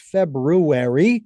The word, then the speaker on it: February: It's actually pronounced February, ladies and gentlemen.